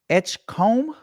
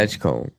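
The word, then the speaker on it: Edgecombe: VJ VJ Edge Edgecomb. Edgecomb. Yeah, Edgecomb. I mean like a comb like you brush.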